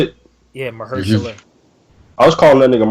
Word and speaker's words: Mahershala: Yeah, Mahershala.